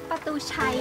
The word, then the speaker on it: Patuxay: How to pronounce it correctly? Pa-tu-chai or Pa-tu-xai? In Laos, we say Pa-tu-xai.